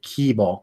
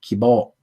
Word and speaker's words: Kibo: named kibo which is so similar to kibo the japanese word for hope just like without the extended e sound and with a u sound at the end so instead of keyboard it's kibo it's god i can't